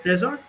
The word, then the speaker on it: Trezor: about trezor uh is it how do you pronounce it treasure treasure yeah yeah so i heard a very